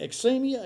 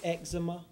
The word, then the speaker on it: eczema: Um, so, uh, eczem eczemia, am I pronouncing that right? E, exe. It might be the way they pronounced it. Um, typically medical speak, eczema.